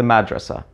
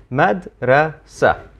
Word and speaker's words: madrasa: and here we are mad rasa now let's remove the vowels except there's actually an additional consonant that comes after the S sound in Arabic actually a t but it's not pronounced so once again it's